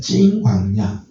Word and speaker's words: 신광야: 저 위에 오른쪽에 있는 신광야는 발음이요. 찐에 가까워요. 찐광야. 예. 찐광. 우리나라 성경에는 신광야라고 그렇게 돼 있어서 헷갈리는데 발음이 사실 다릅니다.